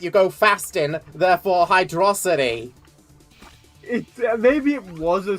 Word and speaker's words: Hydrocity: Because it's a combination of Hydro and Velocity, because it's Sonic the Hedgehog.